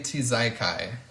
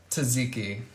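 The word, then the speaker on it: tzatziki: it into something positive like I do I mispronounce words because it's funny um like TJ tizekai I know how to say taziki but Tuesday to zaikai is just so fun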